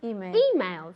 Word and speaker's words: emails: okay emails okay so emails in english how do we say this it's the same word but there's a difference emails with an accent on the e okay emails okay emails